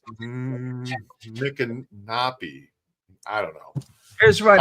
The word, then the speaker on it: Micanopy: It's Micanopy, but it's funny because some people say my canopy, like canopy, my canopy, or Micanopy. So, but it's Micanopy.